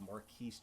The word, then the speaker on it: Marquise: down, the inclusion of Marquise gems, or Marquis gems, however you want to pronounce it. I say it Marquise because there's an S there, and there's, yeah.